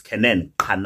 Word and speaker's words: Canaan: It's Canaan. That's how you say it.